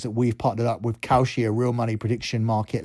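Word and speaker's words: Kalshi: tell you guys that we've partnered up with Koshi, a real money prediction market legal in all 50 states. You can check out Koshi right now.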